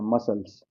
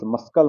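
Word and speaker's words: muscles: मसल्स पढ़ते हैं ना इसको मसल्स। मस्कल मत पढ़िएगा।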